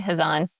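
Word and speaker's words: Khazan: My guest today is Olga Kazan. Am I pronouncing that right? Kazan. I usually say Hzan. Hzan. Oh, okay. The the K is soft.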